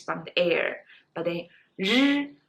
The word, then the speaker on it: 日: Well, 日 is the voiced sound of 诗. So 诗, 日. Actually, exactly the same lips, exactly same teeth position, exactly the same mouth position. It's just when you pronounce 日, you have to use your throat.